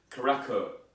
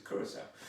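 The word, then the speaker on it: Curaçao: sec turned blue and it's not pronounced karako or any other thing if the c has a little hook underneath it it says sound so it's curacao and then you've got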